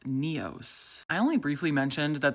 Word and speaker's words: Nyos: Over the last 5 years, I've always called this Lake Nyos, but thanks to this comment from a local, it's actually pronounced Neos.